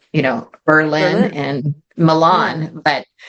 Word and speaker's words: Berlin: be called you know Berlin and Milan but they changed it so that the accent was on the first um syllable Berlin um so that was